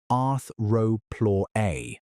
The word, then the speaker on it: Arthropleura: That title goes to Arthropleura, pronounced arth-ro-plu-ra, a millipede.